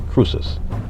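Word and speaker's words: Croesus: e s u s but it it is pronounced true process cruces truces was the king of lydia and the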